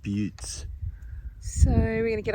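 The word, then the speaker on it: butte: walk around one of these boes they are pronounced butes so we're going to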